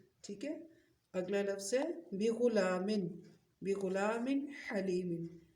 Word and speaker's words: بغلام: اگلا لفظ ہے بغلام، بغلام حلیم، بغلام کے ہجے کرتے ہیں پہلے، با زیر بی، غین پیش غو، بغو، لام کھڑی زبر لا، بغلا، میم دو زیر من، بغلام، حا زبر